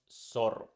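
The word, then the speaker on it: zorro: or seta in Spanish we just pronounce that letter as you pronounce s in soup an example is the word sorrow sorrow with set with seta and it's pronounced Soro Soro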